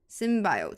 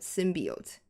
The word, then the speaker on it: symbiote: at all Sim Sim symbiote simbiote symbiote yeah both pronunciations are good I like lost how